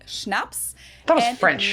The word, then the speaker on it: Schnaps: Schnapps. Schnapps. Schnapps. This one I also mentioned in my video on alcohol Yeah, that was culture. In German, we spell it like this and say Schnaps.